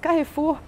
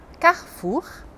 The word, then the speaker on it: Carrefour: aprender a falar francês você conhece essas palavras carrefur Paco rabani jampo goutier brigit Bardot são nomes